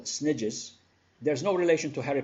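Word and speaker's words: SNIJ: units, what I call snidges, there's no relation to Harry Potter, by the way, and the famous snitch, okay? A snidge is simply my way of pronouncing S-N-I-J, subnational island jurisdiction.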